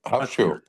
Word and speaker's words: Hafrsfjord: Hafrsfjord.